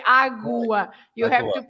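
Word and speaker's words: água: But you don't say aga. You don't say aga, right? You say agua. You have Agua. to pronounce the U.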